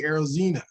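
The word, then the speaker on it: Arozarena: themselves black then you go to randy arozena that's how you say his name he's a cuban defector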